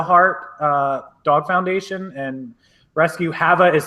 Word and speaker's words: Hava: If you have never heard of Have a Heart Dog Foundation and Rescue, Hava is spelled H-A-V-A. It's like have a heart, but it's like Havanese is where she started.